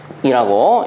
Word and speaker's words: 쿨롱: 단위로는 쿨롱이라고 읽습니다.